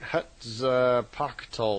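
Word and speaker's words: Huitzilopochtli: himself of great power, which I can't b begin to pronounce. It's spelled h ui t z i l o p o c h ti. So I guess that would be like Hutza Pacole or something.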